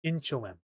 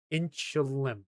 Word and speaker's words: Inchelium: Inchilium. Inchilium. So, the I is silent. Inchilium.